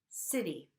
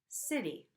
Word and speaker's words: city: And here the T is between 2 vowel sounds, and you could hear my flap again, city, city.